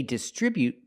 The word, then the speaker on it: distribute: Example, they distribute their products from the distribution center. We see both words. They distribute their products with a stress on the second syllable. Distribute.